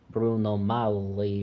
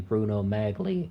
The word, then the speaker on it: Bruno Magli: Lionel nation gives a tutorial on how to pronounce Bruno Molly or something like that I am totally guilty of saying Bruno Magli in my early uploads I'm not exactly up